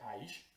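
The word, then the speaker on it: אֵשׁ: Esto se pronuncia Aish, Aleph Shin, las letras, pero se pronuncia Aish.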